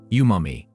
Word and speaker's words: umami: sweet sour salty bitter and yumami it is pronounced as yumami yumami sensation is named after the Japanese word